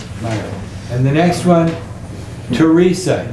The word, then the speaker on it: Teresa: names there Mario and Teresa these are very common Hispanic names Mario Mario Mario Mario and the next one Teresa even though it starts with th it's pronounced Teresa Teresa very common name back